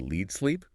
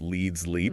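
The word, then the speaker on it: LeadsLeap: Uh I think they called it lead sleep and noted it's pronounced leads leap, right?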